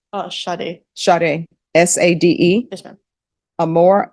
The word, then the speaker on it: Sade: I don't know if this is pronounced Sade or Sadie. Sade.